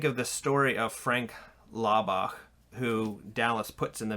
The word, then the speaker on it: Laubach: And I always say Laubach because it's the German in me. I pronounce that CH. Yeah. I think everybody would say Laubach with a hard K, but sorry.